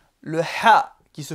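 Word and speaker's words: ح: Le ha, qui se prononce au niveau du milieu de la gorge, le ha, qui n'est pas présent dans la langue française, mais on le retrouve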